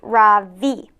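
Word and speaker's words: Ravi: voice quivering a little my name is ra v it's pronounced ra v she looks at me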